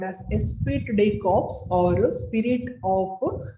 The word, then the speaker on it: Esprit: Esprit, it is pronounced as Esprit.